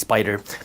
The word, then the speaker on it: SPDR: They're pronounced Spider.